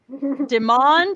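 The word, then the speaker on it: Demande: It's spelled like demand, but it's Not like demand.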